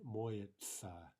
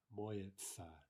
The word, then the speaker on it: моется: Now again, look at the pronunciation моется, моется.